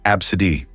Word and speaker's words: ABCDE: Some parents are getting creative with their children's names, choosing unconventional ones like ABCDE, pronounced Absidy.